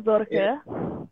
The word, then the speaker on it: Sorge: Jadi itu bacanya itu Zorge atau Sorge aja nggak apa-apa, dari bahasa Jerman.